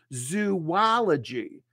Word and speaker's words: zoology: We say it as zoology. So I'm going to study zoology. Notice my lips come forward and I push out that W.